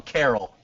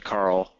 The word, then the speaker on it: Karel: I prefer to call him Carol. I still call him that, but it's actually Karel. Wait, It's what? Carl? That's awesome. Yeah, it's pronounced like Karel. Really? Like it's you don't really say the E at all? No, it's like Karel.